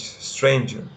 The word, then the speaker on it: strange: For example, strange. Strange, it only has one syllable because it only has Like that, like the sound strange can be said in one stress.